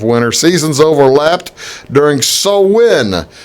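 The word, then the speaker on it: Samhain: the beginning of winter season's over left during so when it's a spelled sa MHA I in but it's pronounced so when and revelers believe the worlds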